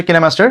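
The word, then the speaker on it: KineMaster: অনেকে হয়তো অনেক ধরনের এডিটিং অ্যাপ বা সফটওয়্যার ব্যবহার করেন, অনেকে হয়তো ফিল্মোরা দিয়ে এডিট করেন বা পাওয়ার ডিরেক্টর কিংবা কাইনমাস্টার, যার অ্যাকচুয়াল উচ্চারণ হচ্ছে কিনেমাস্টার।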